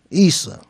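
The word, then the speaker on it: عيسى: Okay, Muhammad is a title.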